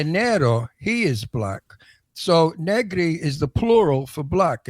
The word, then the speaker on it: Negri: So do I pronounce it Negri? Negri. Oh, Perfect. I like the into it, but Negri.